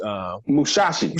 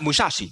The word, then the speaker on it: Musashi: like especially worried about summers uh how you pronounce his name issue which Mousasi shot Musashi Musashi thank you and basics like yeah you